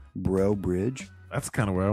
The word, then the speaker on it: Breaux Bridge: where she's from nevermind from Breaux Bridge b r e a u X like foe but bro bro bridge that's kind of where